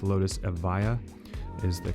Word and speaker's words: Evija: And last but definitely not least, it's the Lotus Evija, not the Evija, which a lot of people say. The J is silent. It's Lotus Evija is the correct pronunciation of it, but that is it right there.